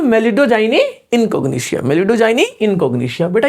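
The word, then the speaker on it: Meloidogyne: बना हुआ है आजकल मेलोडीजाइनी मेलोडोजाइनिया मेलोडिजाइनी ठीक है तो कैसे याद करोगे आप उसको मेलिडो जाइनी ऐसे करके प्रोनाउंस करोगे आप मेलिडोजाइनी ठीक है क्या है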